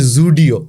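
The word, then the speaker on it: Zudio: ওই যে আপনি জু বলছেন, অর্থাৎ যে উচ্চারণটি আপনি করছেন সেটি কিন্তু জয়ের নিচে ফুটকি দিয়ে হয়।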